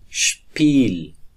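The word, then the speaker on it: Spiel: و حروف ترکیبی اس و پ که با هم دیگر یک جای میشه، مخصوصا در آغاز جمله اش تلفظ میشه. اش اش اش. مثلا شپوت شپوت شپوت یعنی سپورت. یا شپیل شپیل شپیل به معنای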